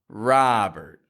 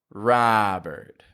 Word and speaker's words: Robert: Ah, Robert. I've heard people say Robert. Robert. Pronounce this name with a wider mouth position in that vowel, and you will not mispronounce it ever again.